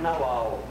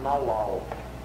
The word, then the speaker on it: nagual: o tonal e o naual. E lê esse capítulo com uma atenção especial. Essas duas noções, que se escreve nagual, mas ele diz que deve se pronunciar naual.